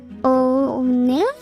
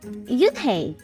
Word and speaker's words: Unhei: It's pronounced Unhei. oh, it's yo, hey, The boy said. like you.